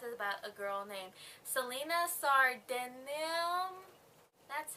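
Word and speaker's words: Celaena Sardothien: thr the glass is about a girl named Selena sard that's how you say it Selena is actually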